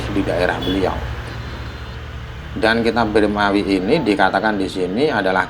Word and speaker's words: Birmawi: kebanyakan k ini dihapus ini bacanya birmawi atau Bawi saya saya juga belum pernah meneliti ya kalau yang Saya dengar ya Maknya dihakati kasrah birmawi tapi ya mendengar dari